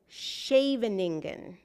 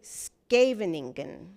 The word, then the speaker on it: Scheveningen: Germans pronounce it like Scheveningen, but Dutch speakers say Scheveningen.